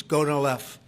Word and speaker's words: Gonal-f: So it's Gonal-F. Is that a proper pronunciation? Very Close well enough, done.